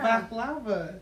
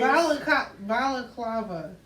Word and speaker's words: balaclava: baklava. That's not how he was saying it. His Balaclava.